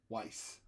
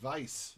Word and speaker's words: Weiss: Weiss. Like Rachel Weisz. And I believe in Austrian, it's like Weiss, like Edelweiss. Is the end of Edelweiss is spelled the same way.